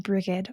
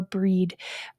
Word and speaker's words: Brigid: And there is a beautiful balance here between the Cailleach and Brigid or Breed or Bride, however we want to say that name.